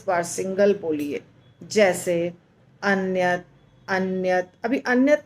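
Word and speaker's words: अन्यत्: ज हम करते हैं लास्ट में त अन्यत जीवा जाता है वहां पर पर उच्चारण नहीं हो पाता है क्योंकि अगर हम उच्चारण करेंगे तो पूरा त हो जाएगा अन्यत अन्यत तो त त जब होगा तो गलत हो जाएगा त नहीं आना चाहिए इसलिए अन्य ओके ऐसे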